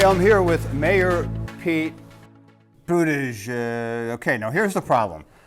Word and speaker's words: Buttigieg: Yeah, so what we say is you say the word boot and then the word edge and then the word edge and you got it. Buttigieg.